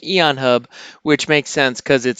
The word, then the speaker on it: Aeon Hub: card button and today we are looking at Aeon hub Aeon hub not a on hub I'm fairly certain that is pronounced Aeon hub which makes sense because it starts with an